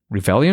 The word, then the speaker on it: Revelian: Revelian, is that the way to pronounce it?